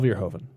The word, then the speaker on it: Verhoeven: Paul Verhoeven. Is that how you pronounce his name?